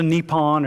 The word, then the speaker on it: Nippon: So Nippon or Nihon is how you say Japan in Japanese, okay?